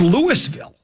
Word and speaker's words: Louisville: It's Louisville. It's not Louisville. Where does it say Louie? I always love that one. But right? It's spelled Lewis.